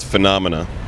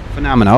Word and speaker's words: Phenomena: a new album coming out and uh you pronounce it correctly so I don't screw it up it's called phenomena phenomena okay so it's that simple all right and